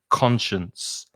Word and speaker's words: conscience: guilty conscience so it's almost like an sh sound in the middle it's a sure conscience that's how i say it conscience second word fascinate so